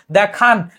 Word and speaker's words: দেখানো: দেখান, এটা কিন্তু হসন্ত হবে না, এটা হবে দেখানো।